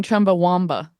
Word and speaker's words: Chumbawamba: It's spelled wam, but I think you got to say w. I think you're I think you're going to go crazy trying to say chumba wamba.